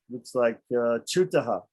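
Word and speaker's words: चूतः: Okay, and then we have looks like chutaha. Chutaha. So long U.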